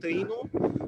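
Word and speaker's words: Taíno: I'm pretty sure that is called Taino. Most probably I don't pronounce it very well, but like, they were making a tea in a specific way.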